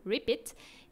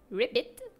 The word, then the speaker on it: repeat: Et en fait déchirer en anglais, ça se dit repeat. Donc R I P I, donc repeit. Et le petit ripit, c'est exactement le son que fait une grenouille.